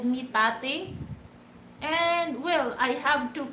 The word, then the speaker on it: Tate: Sometimes, but people don't really get it, that I just type it state and then drop the letter s.